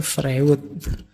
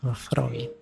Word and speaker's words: Freud: Dulu pernah kita bahas beliau ya yang terkenal dengan psikoanalisisnya yo tulisannya Frewood yo bacanya Freud. Awas keliru cara bacanya.